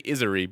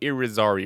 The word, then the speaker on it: Irizarry: I thought I had it right in my head, and then I double checked closer, and I'm realizing that there was an R there that I didn't see the first time. So I was going to say Izari, but it's definitely Irizarry or something like that.